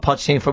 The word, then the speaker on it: Pochettino: What we started with Pochettino.